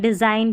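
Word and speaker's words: design: फिर जी देखिए, यहाँ पर जी और एन साथ में रहता है ना, तो जी साइलेंट रहता है, इसको साइन पढ़ते हैं, डिज़ाइन पढ़ते हैं।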